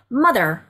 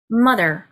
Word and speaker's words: mother: 아 하고 길지 않고요 탁 스타카토처럼 콕 찍는 그런 모음이거든요 그래서 상대적으로 짧습니다 그래서 mother mother mother 이렇게 발음하시면 되고요 아빠